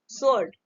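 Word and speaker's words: sword: इसको डब्ल्यू है ना, तो यहाँ पे डब्ल्यू क्या है, साइलेंट है, एस के पहले आया, ठीक है। ये आपका, इसको हम पढ़ेंगे सोर्ड।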